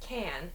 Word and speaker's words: can: is the difference between can and can't and pronunciation in everyday fast-paced speech we reduce that can to like i can come it's really like